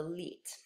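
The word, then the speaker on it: Lied: before and it is the genre of the leet so this is a German word it's pronounced as though it were spelled le et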